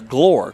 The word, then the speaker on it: Glore: Called the quarterback's name wrong, but it's a Glore, Cole Glore.